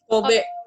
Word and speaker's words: Kobe: Ibu, saya bacanya benar nggak, Bu? Kobe atau Kobe? Kobe. Benar ya.